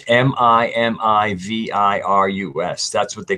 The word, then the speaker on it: Mimivirus: If anybody ever wants to Google the Mimi virus, as just a kind of a concept of